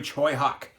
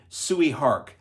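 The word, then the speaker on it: Tsui Hark: an action-packed superhero spectacle produced by the legendary Choy Hawk spelled I used to mispronounce this like so many before we had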